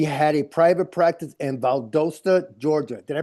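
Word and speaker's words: Valdosta: Augusta, Georgia, she had a private practice in Valdasta, Georgia. Did I pronounce that right? Valdasta.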